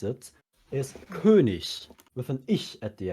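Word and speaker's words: König: for example the German word for King is Kik and that's how I've always been saying it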